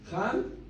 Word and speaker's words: Ham: Aquí le pongo los nombres cómo se pronuncian en hebreo. Shem, Ham y Yafet.